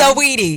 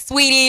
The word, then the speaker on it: Saweetie: Saweetie. Uh-huh. A lot of people get it confused, like Sweetie or like Sweetie, Switey.